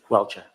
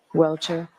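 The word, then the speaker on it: Welcher: How do you pronounce his name, Mr. Bernard? Welchure. Welchure.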